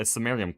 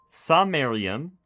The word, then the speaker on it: Samarium: Samarium is the lanthanide, okay? That's what we're making for motors. It's ferromagnetic. That's the thing we want. Sonarium, that's how I pronounce it. The R is the main distinction.